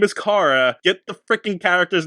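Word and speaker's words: Kara: here they call her Cara throughout the whole movie Her name is Cara drive me nuts the entire movie Her name is Cara it's a short a not a long a well I'm glad you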